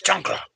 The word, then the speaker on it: chancla: I can't say it right. Drop of the chancla. My wife always hits me on that one. It's chancla. And then I say, and then, hey, why are your lemons all pink?